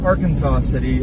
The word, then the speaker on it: Arkansas City: Uh, no, we are in Ar Kansas City. Ar Kansas, Ar Kansas City, uh, Kansas. I am told that it is not pronounced Arkansas City.